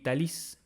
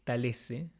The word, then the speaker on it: Talese: Está escrito por Gay Talis o Gay Talese, si lo decimos con el apellido italiano, como dice él aquí, es Talese, si lo decimos con la pronunciación norteamericana, es Talis.